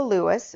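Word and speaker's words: Luas: cab now if your hotel is near the Lewis or the light rail so it's spelled l uas it's the light rail um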